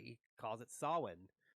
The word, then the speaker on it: Samhain: he actually pronounces it right he calls it sawing it's not pronounced samhain i thought it was i thought it was